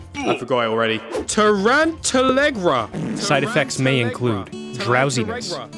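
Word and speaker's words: Tarantallegra: Tarantalegra. Oh, yes! He's actually dancing. It worked. This is incredible. Oh, they don't dance for very long. Tarantalerug. I forgot it already. Tarantalegra.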